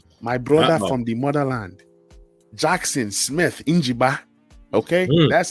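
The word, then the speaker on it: Jackson Smith-Njigba: Number 6, give me my brother from another mother, my brother from the motherland, Jackson Smith Njiba.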